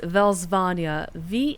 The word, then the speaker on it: Velsvania: The lands the Countess ruled over, because she's no longer in power, is Velsvania. I believe it's spelled V-E-L-S-V-A-N-I-A?